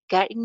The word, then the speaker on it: getting: Getting में हम first syllable को stress करेंगे और जो इसका th sound है, it's flap t, so it's getting.